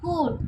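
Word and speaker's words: could: 8 में देखते हैं कूल, तो उसमें एल साइलेंट है।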